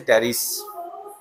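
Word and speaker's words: Pteris: এর উচ্চারণ থাকবে কিন্তু টেরিসের ক্ষেত্রে পি এর উচ্চারণ নাই টেরিস কেমন এটা হচ্ছে টেরিস এই টেরিসের ক্ষেত্রে পি এর উচ্চারণ নাই কিন্তু এখানে পি এর উচ্চারণ আছে ড্রাইপ টেরিস তাহলে ড্রাইপ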